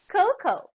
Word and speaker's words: cocoa: say or cocoa but it should be pronounced as coco for example the recipe